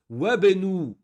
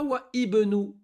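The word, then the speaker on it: وابن: On ne dit pas wa ibenu. Notre règle dit que le hamzatul was, on le prononce qu'au début. Et pas au milieu. Lui, on ne le prononce pas. On fait la liaison. C'est comme s'il n'est pas là.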